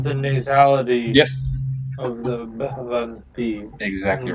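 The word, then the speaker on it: भवन्ति: The way it's actually pronounced in the third plural is Bhavanti. Bhavanti.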